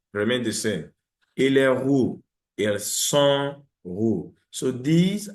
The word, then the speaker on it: roux: Example, ils sont grands et roux. The X is not pronounced, the S is not pronounced.